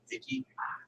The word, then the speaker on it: Vichy: Was that a Vicky? How do you say it? What was that? Which one? Under Nazi rule, half independent. V-I-C-H-Y.